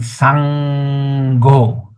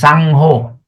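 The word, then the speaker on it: saṅgho: Some many people pronounce as sangho. Correct. But actually we must pronounce sango because n with a dot on the top is ng. So the word becomes s a n g h o. Sango.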